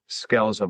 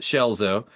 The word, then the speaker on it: Scelzo: That's actually my entire life, you know, my family and friends have always used the Italian pronunciation, which is Shelzo.